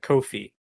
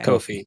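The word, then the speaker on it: Ko-fi: three it's pronounced uh Kofi okay Kofi yeah because they they have a they have a tweet somewhere that's like uh Kofi rhymes with no fee um how you remember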